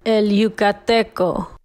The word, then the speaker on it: El Yucateco: You can hit clip two, and this is how you pronounce it. All right. El Yucateco.